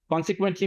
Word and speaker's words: consequently: So এখানে আপনার উচ্চারণটা কে তে হচ্ছে, এটা সিটা কে এর মতো উচ্চারণ হচ্ছে, আর কেটা একটু জোরে উচ্চারণ হবে, কে এর মতো, কে। consequently, কিউটা হচ্ছে যে ওই যে কে এর মতো উচ্চারণ হবে, কে এর মতো জোরে।